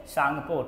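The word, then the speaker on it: Tsangpo: नाम होता है बच्चे सांगपो टी साइलेंट है यहां पे ठीक है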